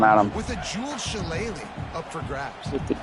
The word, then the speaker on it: shillelagh: Shillelagh, that's how it's pronounced, the shillelagh.